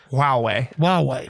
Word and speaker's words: Huawei: on semiconductors, as we did with how you pronounce that? Huawei Technologies? Huawei.